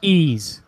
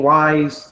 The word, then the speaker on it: Ys: how it actually supposed to be pronounced it's pronounced ease I've been I've been pronouncing that thing wise since day one I was calling it ye